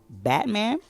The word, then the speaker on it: BVT Man: week is going to go to Batman but it's spelled BVT man uh I've been uh